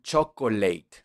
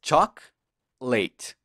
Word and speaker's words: chocolate: igual que en español pero no me la pronuncian muy bien porque dicen chocolate te acuerdas que no es así es shock late show late charlie chaplin plate muy bien otras